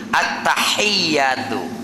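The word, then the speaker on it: التحيات: yang pakai apa titik Kalau ha yang tidak ada titik bacanya harus bersih ha alhamdu arahmani arahimi itu attahiyatu jangan pakaiahiyatu tidak boleh karena tidak ada titiknya Ya saking pengin ledoknya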